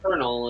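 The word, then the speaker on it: colonel: um or German related but thank you internally pronounced kernel and not yeah or or Lieutenant which is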